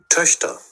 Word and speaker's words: Töchter: আর হচ্ছে যদি টকটার দেখি, Twitter, Töchter, Töchter, Töchter, Töchter, Töchter.